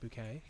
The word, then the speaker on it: Bucket: It's pronounced bouquet. Bouquet, actually. Perfect crime.